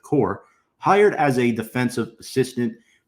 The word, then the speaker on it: Kuhr: I believe Coor is the phonetic pronunciation, so we're going to go with Kuhr.